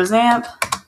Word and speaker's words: XAMPP: we're going to go ahead and look for zamp spelled like that um click on it download for